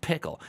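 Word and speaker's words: Pkl: announce that open source first release of pickle pronounced pickle a programming language for production configuration I'm very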